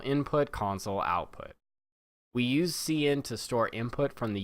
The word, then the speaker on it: cin: Okay, and that's pronounced cin. Okay, I know some people insist on calling this count and sin and all these other things.